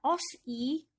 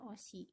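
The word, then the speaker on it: 옷이: atas menggantikan yang ya Jadi bukan dibaca oski kan salah ya bukan di I hope I bukan Tapi bacanya Bagaimana ya bacanya autis baca Osi contoh selanjutnya yaitu adalah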